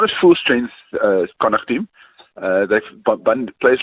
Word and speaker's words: Connacht: Is that how you pronounce the team's name? Uh Connacht, yeah. Well, it depends if if you want to throw an Irish accent in, uh Connacht or Connacht is depends what part of part of Ireland